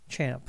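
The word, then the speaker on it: XAMPP: create this application platform called champ it's how it's pronounced it is cross-platform which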